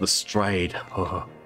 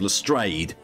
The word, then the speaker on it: Lestrade: It's pronounced Lestrade. Gin. I think the worst thing is this one, because it was bad enough in Case of the Silver Earring when he was consistently called Lestrade.